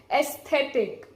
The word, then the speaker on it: aesthetic: watch but there is aesthetic aesthetic okay a s th e t I see you can see on the screen you say AES is pronounced as s s the letter s